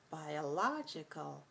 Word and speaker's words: biological: 4-2 biologist biologists 4-2 when we move it to the adjective or we use the adjective the stress shifts over to the data logical right so biological biological adverb biologically biologically now